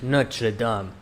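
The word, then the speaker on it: Notre-Dame: Notre Dame.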